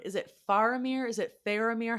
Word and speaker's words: Faramir: say what kind of vowel sound is it faramir is it faramir how are we saying this man's name I'm still going to say it both ways but like what's the correct way faramir faramir yes okay I will try to say it